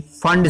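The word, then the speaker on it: Pfund: Number five की बात करें तो कौन सी आएगी आपकी, फंड सीरीज, पी साइलेंट होता है बेटा इसमें, फंड सीरीज।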